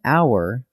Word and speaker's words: hour: An hour, because the H is silent, so it starts with an ow sound.